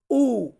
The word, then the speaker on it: u: এরপর আছে ইউ, এটাকে কিন্তু আমরা উচ্চারণ করে থাকি ইউ, কিন্তু ইতালিয়ান বর্ণমালাতে আমরা এটাকে উচ্চারণ করব উ, সাউন্ডটা কেমন আসবে উ, উ।